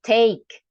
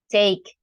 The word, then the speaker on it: take: is silence right so the e at the end in English is silence we don't pronounce it so take make Japanese okay so we don't pronounce those letters at the end Japanese Chinese take make what else another